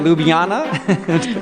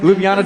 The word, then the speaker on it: Ljubljana: I've been working on pronouncing it Ljubljana, Ljubljana Tourism, Petra Stusek.